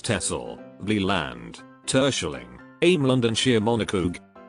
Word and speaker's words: Texel: islands, Waddenelanden, which are Texel, pronounced as Texel, Vlieland, Terschelling, Ameland and Schiermonnikoog.